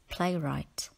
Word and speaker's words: playwright: greatest playwright in history right in playwright is spelt with the silent gh word number 18 is